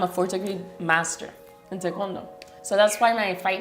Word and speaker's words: Taekwondo: I started with Taekwondo when I was 2 years old.